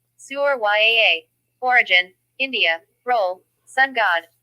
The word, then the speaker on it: Surya: Pronunciation. Suryaa.